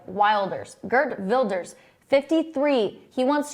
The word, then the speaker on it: Wilders: someone new we're talking about Gert Builders and that's spelled w i l d RS like Wilders Gert Builders 53 he wants to run for